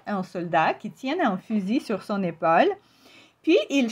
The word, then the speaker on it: fusil: Et oui, bien sûr, le mot ici, on ne prononce pas la lettre elle à la fin. On va dire fusil. La le dernier son compromon c'est i, son fusil.